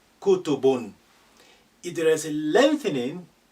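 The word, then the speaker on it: كُتُب: If they say kutubun, don't say kutu, la, short, kutubun.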